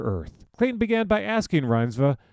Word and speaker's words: Reinsve: Friday's Clayton Davis spoke to Rinva about the movies that influenced her, her ambitions as an actor, and possible director, and her connection to Mother Earth. Clayton began by asking Rhinva how to pronounce her last name.